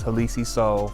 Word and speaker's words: Halisi Soul: that so uh once again my name is halisi soul from the go that is spelled h-a-l-i-s-i-s-o-u-l and um you know for those